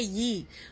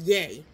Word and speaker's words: Yee: I say Yee, but it's pronounced Yay.